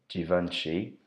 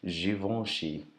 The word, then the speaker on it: Givenchy: brand again this is another one that I mispronounced before calling it Givenchy Givenchy do you have a Givenchy perfume but apparently this one is Juvenal she Givenchy and it's a